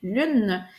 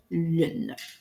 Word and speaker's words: lune: syllabe puisque je dis lune. Et là, ce qui est important, c'est de ne pas considérer le e muet que nous on connaît à l'écrit mais qu'on entend pas à l'oral puisque dans le mot